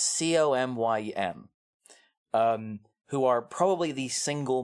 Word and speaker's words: Comyn: the House of Comyn, who are not spelled like that. It's Comyn.